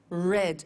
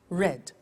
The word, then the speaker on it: read: made meet met read read notice that now read and read are written exactly the same but the pronunciation changes in the past tense read read say said send sent